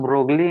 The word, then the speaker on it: Broglie: ब्रोगली, सर मोगली में एम हटा के BR लगा दिया है, ब्रोगली।